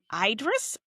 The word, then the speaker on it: Idris: Oh, I love how we were going to pronounce these names. Uh, all right. It's It's Idris.